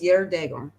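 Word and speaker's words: geardagum: And if you look at that word, you can kind of recognize it because that G is usually pronounced as like a Y. So it's Yerdagum. Years ago, years gone by, days gone by.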